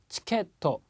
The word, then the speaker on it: チケット: 그 다음에 치케토 자, 케 다음에 조그만 츠 발음이 들어가 있네요. 한 박자라는 거 치케토 그러면 티켓이라는 의미가 되고요.